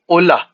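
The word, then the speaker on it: hola: अगर हम जैसे कोई एग्जांपल ले होला जिसका मतलब होता है हेलो तो इसकी जो प्रोनाउंसिएशन रहेगी वो रहेगी ओला। इसमें एच जो है वो साइलेंट रहेगा।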